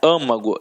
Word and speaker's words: âmago: E então leva acento como é a pronúncia fechada né âmago então acento circunflexo e córtex é uma